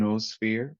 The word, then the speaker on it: noosphere: I think I would like to go back a little bit to the concepts of biosphere and noosphere or noosphere. How do you pronounce it actually? Noosphere. Noosphere. Yeah.